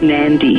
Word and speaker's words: Nadi: But most people seem to go into Nadi, which is spelled N-A-D-I but pronounced Nandi.